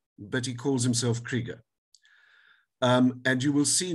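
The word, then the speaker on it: Krygier: but I'm going to spell it for you it's spelled k r y g i e r but he calls himself Krieger um and you will see why I need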